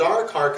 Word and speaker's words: Darakaraka: Darakaraka is spelled D-A-R-A-K-A-R-A-K-A.